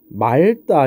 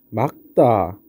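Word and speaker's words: 맑다: 예를 들어 이런 거 이거 말다 이렇게 발음하면 안 되고 어떻게 막다 이렇게 발음해야 된다는 라는 건지 또 아니면 맑게라는 거는 어떻게 맑게 이렇게 발음해야 되는 거.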